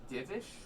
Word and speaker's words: Divish: It's Divish, but let me look up how to spell it quickly.